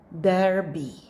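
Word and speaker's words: Derbe: the next Go lra lra next word go Derby there be next word you know this well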